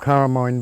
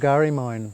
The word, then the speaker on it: Garrimine: beach in the background, today it's called Carramine Beach, but that's a mispronunciation. It should be called Garrimine, place of the sunrise.